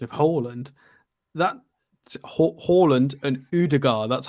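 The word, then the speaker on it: Ødegaard: Scottish yeah I'm also getting stick off my pronunciation of Holland that Holland and udagar that's how or udagar that's how he's supposed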